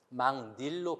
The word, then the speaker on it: 막일: 그 다음에 니은이 들어간 다음에 막일이 아니고 니은이 들어간 다음에 망닐로 바꾸고.